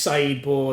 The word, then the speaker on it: Saeed Bor: My name's Saeed Bor. That's spelled Saeed.